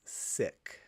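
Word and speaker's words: Sikh: I believe it's pronounced sick. Really? I've always heard it seek from my seek friends, but that's what I've heard.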